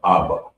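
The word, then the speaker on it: אבא: And it's pronounced Abba.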